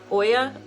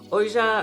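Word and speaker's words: Oia: So basically we're going to land in port, Uber into Oya, but they say that's not how you say it. So Oja or something like that.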